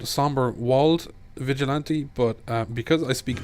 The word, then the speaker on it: Somberwald: this guy is called Sombrewald Vigilante, but because I speak German, I can't prevent myself from actually saying Somberwald, because that's how you would pronounce Wald in German, which means forest.